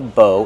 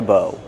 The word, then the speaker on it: bow: Again, this is the arrow and that's the bow. Together, a bow and arrow. How do we pronounce bow? Bow. Use a long O like no and go.